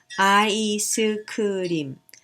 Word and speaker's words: 아이스크림: Ice cream becomes 아이스크림, 아이스크림. 5 syllables.